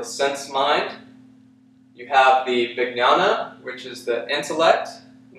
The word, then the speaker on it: Vijnana: Anandamaya Kosha, when there's a J and an N in Sanskrit, it has sort of a G N sound, like Vijnana, or like the N would have a tilde in Spanish.